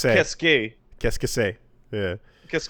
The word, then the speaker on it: qu'est-ce que: Which is pronounced qu'est-ce que.